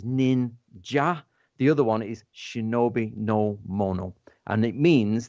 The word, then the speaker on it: Shinobi: So the path of the I don't know how to pronounce it. Right, okay, it's Shinobi.